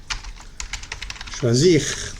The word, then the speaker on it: choisir: Choisir, très bien. Se pronuncia bien la R al final, ¿listo? Porque no es ER, sino IR. Ir, finir, agir, choisir.